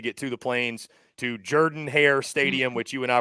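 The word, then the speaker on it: Jordan-Hare: when you're going to get humble but it's Jordan hair not Jordan hair I want all the Auburn folks watching to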